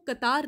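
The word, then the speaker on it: Qatar: आप चीजें याद रखो कतार ने भी इससे कतर या कतार जैसे भी आप प्रोनाउंस करते हैं उसने भी इससे ऑप्ट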